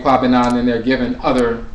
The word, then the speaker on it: Kwabena: Or sometimes they pronounce it Ko Bena or Ko Bera, or different variations, but typically Kwabena, and Kwabena means a servant or a subject of the Abosom Bena.